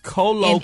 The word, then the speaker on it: colloquially: Colloquially.